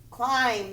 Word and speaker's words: climb: climb a tree quickly climb the bee is silent full there is a